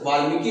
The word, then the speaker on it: वाल्मीकि: बिहार, ठीक है, तो बिहार में वाल्मीकि नेशनल, वाल्मीकि होता है वैसे प्रोनाउंस के लिए, ठीक है, लेकिन बिहार में नेशनल पार्क कौन सा?